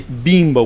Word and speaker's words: Bimbo: this case we we we taught american people to say bimbo with like like like a long e so to stress bimbo